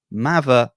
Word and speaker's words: Mather: welcome the commissioner of United grid League himself mava great pronunciation you know what happened I thought so